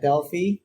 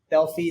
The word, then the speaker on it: Delphi: So I'm currently working primarily at Delphi. Or it's Delphi, not Delphi actually, but even our founders pronounce it wrong.